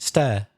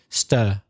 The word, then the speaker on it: stir: was the first one is it stair that sounds like stair which is you see I got it wrong because this is this is fascinated I am mispronouncing this word because for me it's tricky that give me another chance stir okay it's in from where I'm from from the South of England it's the same vowel sound as her oh